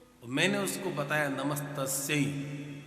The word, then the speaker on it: नमस्तस्यै: तो पुल्लिंग उच्चारण कर रहा है। नमस्तस्मै नहीं है, नमस्तस्यै। तस्मै पुरुष के लिए और तस्मै स्त्री के लिए लगता है।